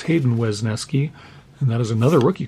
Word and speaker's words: Wesneski: Wisniewski from the Cubs. It's Hayden Wesneski.